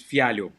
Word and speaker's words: Fialho: Yeah, it's Fialho. Oh boy. Fialho. So I was like Fialho. Fialho. That's my English. That's my English version of it. Speaking of Fialho.